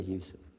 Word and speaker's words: Yusuf: is youssef do you say yusuf you say yusuf you're very good i wish you teach my wife she keeps mispronouncing it she calls me now